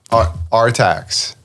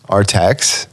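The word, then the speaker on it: Artax: no i think he i think he's pronounced it rtx our text yeah like the a is an e okay which i think would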